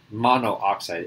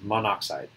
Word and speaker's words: monoxide: oxide actually not a mono oxide it's monoxide we get rid of that extra oh so it's not mono oxide that doesn't make sense